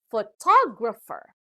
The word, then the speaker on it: photographer: has four syllables and the stress is given to the second syllable this time so it is pronounced as photographer now the third word